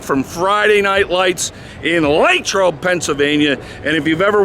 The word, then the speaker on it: Latrobe: Friday Night Lights in lro Pennsylvania and if you've ever wondered how do you pronounce it is it lot trobe is it Latrobe well the locals call it lro huddle up Steelers Nation